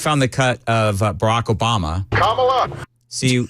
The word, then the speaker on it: Kamala: still saying it wrong yeah Kamala it's Kamala Kamala yes do I say it right yeah I say it right it's Kamala yes then we then we